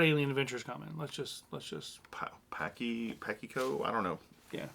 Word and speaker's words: Pacheco: Pakiko? I don't know. Yeah. How do you pronounce her name? Pashiko? I don't know. Pacheco. Yeah, that's what he said.